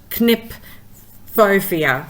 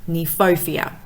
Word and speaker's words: Kniphofia: And generally KN, the K is silent, so it's Kniphofia.